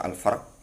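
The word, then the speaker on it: فرق: al-faraq ya. Bi fathir ra wa sukun ya. Boleh dibaca al-farq atau boleh juga dibaca al-faraq, bisa juga al-farq.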